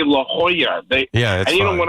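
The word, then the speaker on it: La Jolla: And then uh Dave text me and say hey it's it's pronounced La Hoya like the Georgetown Hoya.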